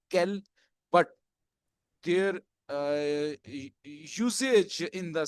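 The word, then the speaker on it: quel: के साथ एंडिंग है, all will be pronunciated as kel, but their usage in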